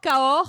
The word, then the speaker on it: Cahors: Cahors, is that how you say it? Cahors, yeah.